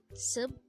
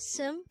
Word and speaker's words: 습: for the first two syllables for the third syllable sub which is actually pronounced as Sim we need to draw first a c character